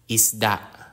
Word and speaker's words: isda: aeroplano is an airplane e is the e in iglo or machine example is isda isda an isda is